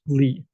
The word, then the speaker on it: Lie: a lot of this this is pronounced Lee so if you ever say lie groups you know people know that you don't really know much mathematics so you should be